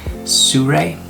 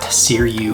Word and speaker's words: Sirui: you pronounce this company it's suray not siriu or whatever else people say suray sent me this